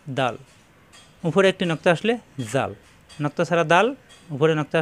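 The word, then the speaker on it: ذ: দাল দাল দাল, উপরে একটি নক্তা আসলে জাল, নক্তা ছাড়া দাল, উপরে নক্তা আসলে জাল, জাল নরম করে উচ্চারণ, জিহ্বার আগা উপরে দাঁতের আগায় লাগিয়ে, জাল জাল।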